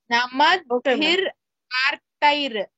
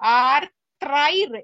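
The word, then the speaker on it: नमद्भिरार्तैः: Again you are pronouncing as if there is a ra, but there is no ra. Namadbhir artair, but you are saying artrair.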